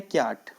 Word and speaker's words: Kyat: है, और यहाँ की करेंसी है क्याट, KYAT, क्याट।